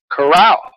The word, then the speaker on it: Carao: with a miraculous fruit I learned how to pronounce it he taught me it's coral and the story of coral is a fascinating